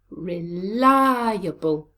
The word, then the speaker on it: reliable: Where is the stress in this word? Reliable. It's on the second syllable.